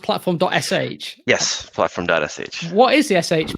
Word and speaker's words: platform.sh: role so you work at platform is it pronounced platform.sh yes platform.sh what is the sh B first of all